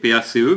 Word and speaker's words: PACE: Eh bien Maryse, le parti s'appelle Parti des citoyens européens, PACE, P-A-C-E, mais ça se prononce PACE comme la paix.